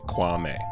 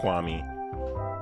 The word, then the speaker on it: Kwame: His name is Kwame. Don't be pronouncing his freaking name wrong. It's not that complicated. Kwame, not Kwame.